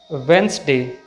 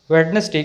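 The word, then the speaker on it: Wednesday: इसी तरह से दूसरा word adjust not adjust, एजर्न not adjourn, वेंसडे, वेंसडे इसका सही प्रोनाउंसिएशन है, वेडनेसडे कहना गलत है।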